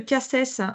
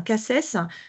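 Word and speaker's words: CACES: il y a des ce qu'on appelle le casss en fait souvent nous on forme les collaborateurs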